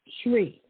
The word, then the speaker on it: Shree: hello yes what is your name it's tree shree creek spell it please s-h-r-e-e okay and where are you